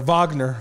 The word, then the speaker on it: Wagner: German you got to say it like a German with a little anger in your voice it's Vagner sound like AR I